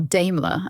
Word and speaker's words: Daimler: I have driven 1900 Daimler or D ilar as the British say um the car belongs